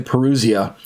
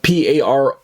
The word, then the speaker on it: parousia: And this, or some people say parousia, but P-A-R-O-U-S-I-A in the transliterated Greek using English letters, Latin alphabet. But I pronounce it as parousia.